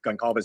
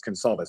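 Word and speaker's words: Goncalves: I thought originally when we first started talking I heard somebody call her Kelly Kaylee Gonalves and I said that in public and I apologize it's Kalves and I'm sorry about that.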